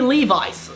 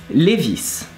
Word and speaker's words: Levi's: Levi's, or Levi, and it's pronounced Levis. And we are right and you are wrong. Why so? Because the man who made this brand was a German called Levi Strauss. So Levi Strauss, Levis, and that's what's working. So it's Levis and not Levi's.